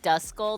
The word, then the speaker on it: Duskull: You say it like Duskull? That makes sense, because like dusk.